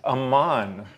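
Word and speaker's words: Amman: If you pronounce the vowels just a little bit differently, you come up with it as Aman.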